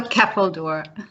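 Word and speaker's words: ceffyl dŵr: Can you pronounce that word for me, please? It's a Keppeldoor.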